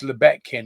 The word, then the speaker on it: Lebetkin: Your friend of mine, Svi Lebetkin, pronounced Lebetkin, not as that idiot from Arizona goes, Svi Lebetkin.